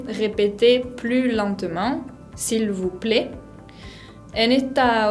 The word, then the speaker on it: lentement: En la palabra lentement, no se pronuncia la T final y tenemos una nasal, la E con N, la combinación.